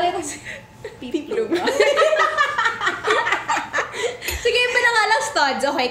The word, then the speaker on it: peplum: Guys, remember, it's peeplum. Like a peeplum wedge, like that peeplum.